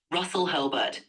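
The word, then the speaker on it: Russell Hurlburt: It was developed by psychology professor Russell Herbert, right? It's Russell. I don't know how to pronounce his name correctly. It's pronounced Russell Hurlbert.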